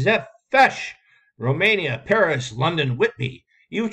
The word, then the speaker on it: Zepsch: It is pronounced Zepfesh.